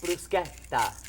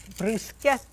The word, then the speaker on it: bruschetta: It is pronounced bruschetta. Bruschetta. Anytime you get that C and H in Italian, it's a hard sound.